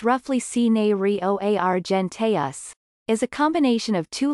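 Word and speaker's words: cinereoargenteus: The scientific name of cinereo argenteus, pronounced roughly cinereo argenteus, is a combination of two Latin words.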